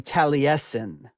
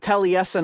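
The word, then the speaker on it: Taliesin: in to say this is um it's being mispronounced it should be tesen um but uh Rod pronounces a talison so I pronounced it talison although the tal tesen I went to in Wisconsin last summer was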